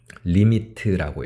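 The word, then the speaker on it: lim: 리미트라고 읽습니다. 리미트.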